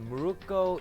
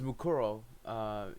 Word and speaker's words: Mukuro: It's called Muruko Ikusaba. I think that's what it was. By the way, let's continue on. Whoops. Mukuro Ikusaba. Oh yeah, it's Mukuro Ikusaba. Okay, I said it wrong.